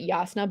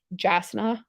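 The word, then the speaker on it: Jasnah: that like yes okay there's a character named diasna and that like you pronounce it yasna but it's spelled j-a-s and a h or something like that and like when you first read it you think it's jasna um but there are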